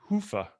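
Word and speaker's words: Hyvä: had seven different pronunciations i understand it's a finnish word hoofah and yeah the way i do it is i clinch my i clinch my butt cheeks and i say hoofah and it helps me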